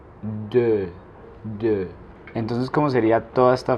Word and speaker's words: deux: Para decir dos, en francés se dice deux. El sonido de la E y la U es como entre una O y una E. Deux.